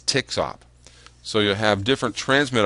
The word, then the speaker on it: TXOP: You'll see that written as TXOP, and some people actually pronounce it as TXOP.